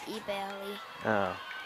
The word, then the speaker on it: Ebale: Ibale? I think it says to pronounce it Ebale.